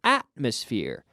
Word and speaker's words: atmosphere: Remember, the accent falls on the first syllable here. Atmosphere.